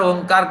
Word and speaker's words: ओंकार: यानी 100% अगर ओंकार का उच्चारण करेंगे तो अ और म के जो